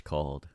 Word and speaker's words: Cawl: What is Wales' national dish called?